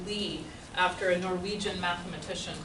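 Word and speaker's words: Lie: it's called a leaning derivative li e is pronounced Lee after a Norwegian mathematician called Marius opus meet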